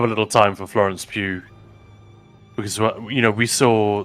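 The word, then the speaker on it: Pugh: name uh Pew Florence pew pew yeah it's pronounced Pew right Florence Pew and I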